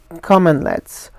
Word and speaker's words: cmdlet: of powershell which is common let's so this is not a typo this is actually the spelling of the word even though it's pronounced commonlet it's cmd led so